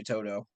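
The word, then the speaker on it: To'oTo'o: I see Henry Toto Toto I guess is how you say his last name I say Toto like Wizard of Oz it's the easiest way to remember him gotcha um helps me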